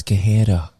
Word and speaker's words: Guerreiro: It's Guerreiro. In Portugal, it's Guerreiro.